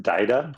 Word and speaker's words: Dita: It's pronounced Dida.